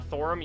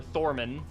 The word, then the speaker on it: Thorman: um reminder that uh thorim you still have the crit or thorman there we go we've been saying it wrong both of us for like five minutes um so thorman